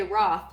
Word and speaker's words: ROTLH: I feel like ROTLH, and then we just say Roth. The L is silent.